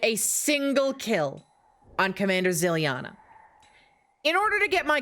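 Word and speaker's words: Zilyana: Ziliana.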